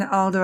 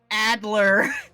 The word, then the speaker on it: Adler: imagine you must have heard that from irene alder a lot too didn't you sorry white you just wounded my soul there irene adler adler yes i'm sorry i think kimchi wong's